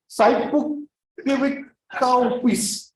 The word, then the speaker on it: saippuakivikauppias: Saipukivikaupis.